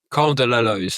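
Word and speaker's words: Col de la Loze: Am I I'm going to pronounce this wrong, guys. You correct me. Cole de la Lo. Is that right? Co de la.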